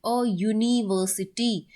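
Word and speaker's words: university: अगर आप इस वर्ड को इसकी प्रोनाउंसिएशन देखोगे, यूनिवर्सिटी, तो यूनिवर्सिटी में यू को नहीं, बल्कि इसकी आवाज चेक करोगे अगर, तो यो की आ रही होगी, यूनिवर्सिटी।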